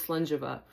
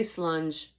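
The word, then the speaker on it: Slàinte mhath: But yes, this is Slangeva. And this is what it looks like. You can say slunge too if you want, but it's, I think, a little more proper to say Slangeva.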